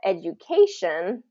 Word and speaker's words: education: first syllable stress now if we change this the um suffix and we call it education that changes the the stress so instead of and let's see if I can get of a little writing tool so educ educated is first syllable stress education is third syllable stress because of the the the suffix of shun okay education things that that end in shun we're going to stress the syllable right before that ending education um vacation uh